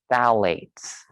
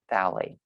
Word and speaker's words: phthalates: Phthalates. I'm assuming the pH is silent. Phthalates.